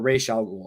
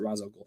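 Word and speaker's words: Ra's al Ghul: begins uh that you know will live uh raz al ghul or ray shall rule however you want to pronounce it in the movie they pronounced it razo cool he had some fucking good ones right like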